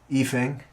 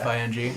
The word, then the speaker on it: Ifing: I guess thinking about like current black metal bands and stuff, Efing, spelled with an I. Yeah, IFING.